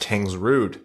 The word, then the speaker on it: Tangsrud: First of all, I just want to mention that my last name is pronounced Tangsrud. Tangsrud.